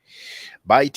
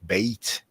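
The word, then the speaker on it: בית: But maybe in Hebrew it sounds more like Beit or Bet, Bethlehem, Bet-El, house of God. And in Arabic it sounds more like Bait, see.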